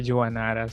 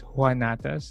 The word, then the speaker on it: Juanatas: Rome janas uh I I pronounce my last name from to time usually I say janas so that people know how it's spelled but most people say it's hanas like the Spanish pronunciation yeah it's okay it's